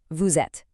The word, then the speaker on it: vous êtes: It's called a liaison. The S from vous links up to the E in ets, so it sounds like one smooth word, vous êtes.